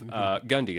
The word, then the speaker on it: Gundy: Yeah, Gundy, like it sounds.